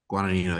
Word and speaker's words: Guadagnino: Like this, the director Luca, how do you pronounce his last name? Isn't Uh, Guadagnino? Guadagnino, yeah.